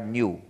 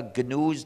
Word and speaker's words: GNU: Es un acrónimo recursivo, significa GNU's not Unix. Pero, y en inglés se pronuncia GNU, pero en castellano me han dicho que para ustedes es más fácil pronunciarlo como new, como si comenzara por ñ.